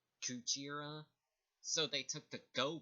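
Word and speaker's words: クジラ: For gorilla, it's pronounced as Gorira, and for whale, it's pronounced Kujira.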